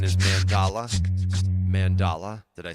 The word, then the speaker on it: mandala: Steve said I did indeed pronounce it correctly. Mandala.